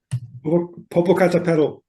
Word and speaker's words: Popocatépetl: That's I don't know how you pronounce that, Popocatépetl in Mexico. Popocatépetl.